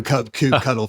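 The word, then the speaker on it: kubectl: with a 100 okay do you do you pronounce CP CTL CP cuddle I do c CP cuddle for sure okay there you go there you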